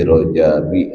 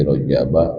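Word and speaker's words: رجب: Jadi bukan fi Rajabin wa Sya'banin. Fi Rajaba wa Sya'bana. Bacanya begitu.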